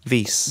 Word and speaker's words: vis: Vis. But I'm not really sure. Like, I've never It's V-I-S, so it I just say vis. Vis is how it's spelt.